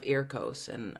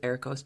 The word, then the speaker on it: EARCOS: So NISA, and then when I moved to Korea and China, then I suddenly heard a lot of EARCOS or AIRCOS. Sometimes they pronounce it AIRCOS, and I realized this is just NISA but to the east.